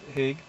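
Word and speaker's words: Haigha: fans on each side, Haig pronounced so as to rhyme with mere, dug his hands into the haystack.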